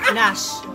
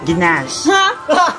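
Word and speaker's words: gnash: Nash. Ikaw. Ginash. Correct, Nash. Nash. Silent G.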